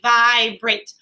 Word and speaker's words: vibrate: sound per syllable so we have vi brait even though we have this vowel here is this e saying anything nope it's the e that makes that a say it's name vibrate if something is going